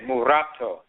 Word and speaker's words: mulatto: from previous that, but the way it's pronounced in English is mulatto. If an Akan person says that, they won't say mulatto because we don't use letter L. We use rolling R, so we say murato or murato, murato ni.